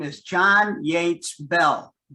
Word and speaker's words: Beall: The man I'm going to talk about, his name is John Yates Bell, B-E-A-L-L. So it looks like Beall, but it's pronounced Bell.